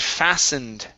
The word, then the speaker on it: fastened: Next is the word fastened. Okay, the T is silent. We do not pronounce it.